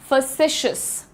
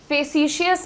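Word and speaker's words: facetious: को हम कहते हैं फसिशियस। फेसिशियस नहीं फसिशियस। जल्दी से बोलना है फशस मेरे साथ बोलिएगा सब लोग फसिशस ये जो मैं यू एच का साउंड लिखती हूं इसका प्रोनंसिएशन होता है अ और इसको कहा जाता है द श्व साउंड ठीक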